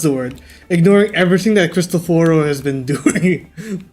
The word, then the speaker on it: Cristoforo: Yeah, he pronounces his Cristoforo. own name as Cristoforo. Easy. Cristoforo.